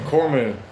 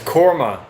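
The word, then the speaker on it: korma: I want to try some Cormu. I guess that's how you say it. Cormu. K O R M U. Cormu. Or is it Corma? It's Corma. Yeah, this looks really good.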